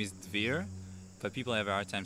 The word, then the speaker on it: Dvir: name so my name my Israeli name is fear but people have our time saying so i'll